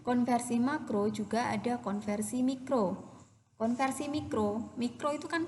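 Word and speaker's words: μ: Kemudian mikro itu simbolnya gini, kayak U tapi ada buntutnya. Ini bacanya mikro. Nah, ini bacanya mikro ya, ini mikro. Jadi bukan U, ini mikro.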